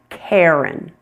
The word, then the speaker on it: Karen: Which R-controlled vowel sound are you hearing in the name Karen? Air, air, air. You're hearing the one that sounds like hair, hair. It's a long A plus air, air.